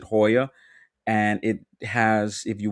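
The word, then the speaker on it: Jaya: Cirque du Soleil in like down there called Hoya or Joya, but they pronounce it Hoya, and it has if you want to you can do like the dinner and the show experience.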